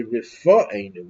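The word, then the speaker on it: רפאנו: Whereas in this blessing, we say rifa'enu. It's not a P, it's an F. It's the same letter without the dot. It's called the soft pronunciation.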